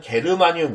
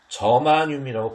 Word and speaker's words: 저마늄: 규소, 우리나라 이거 G는 여러분은 게르마늄 이렇게 불러왔던 건데 저마늄이라고 발음하시는 게 맞습니다.